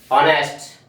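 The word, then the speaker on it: honest: Word को बनाने में, ऑनेस्ट, ऑनेस्टी, ऑनरेरियम, ऑनरेबल, ऐसे बहुत से वर्ड्स होते हैं हमारे जो एच से शुरू होते हैं। इसके बावजूद भी इसमें एच साइलेंट होता है, और ये सारे के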